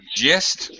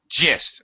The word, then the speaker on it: gist: I don't know um it's not just with the I'm sorry it's g with a J uh sorry uh is that right no it is with a G I'm sorry I was right the first time gist uh the gist of